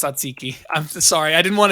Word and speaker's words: tzatziki: It's pronounced tzatziki.